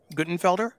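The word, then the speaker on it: Guttenfelder: Ukraine uh this essay is by David um goodenfelder tell me if I mispronounced that no that's right that's right um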